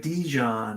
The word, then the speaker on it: Dijon: All right, so like Dijon. All right, like the mustard. Not Dijon.